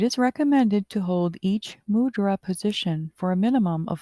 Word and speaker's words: mudra: Mudra is a Sanskrit word and is pronounced in Sanskrit by emphasizing the second syllable of ah.